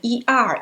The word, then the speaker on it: 儿: 累 okay next one it sounds like er in term well er is a special compound final we used it like an independent syllable.